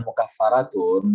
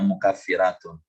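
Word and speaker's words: مكفرات: Isim fa'il mukaffiratun, bukan mukaffaratun, dibacanya mukaffiratun. Jadi kalau barisnya di bawah tasydid itu berarti kasrah, mukaffiratun ma bainahunna, menghapus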